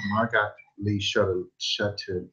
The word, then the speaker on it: Margot Lee Shetterly: You said it like I'm trying to pronounce her name. Margot Lee Shetterly.